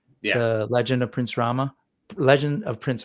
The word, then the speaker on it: Rama: The legend of Prince Rama. Legend of Prince Rahm. I notic in when they're pronouncing things like that, that last A is sort of not heard.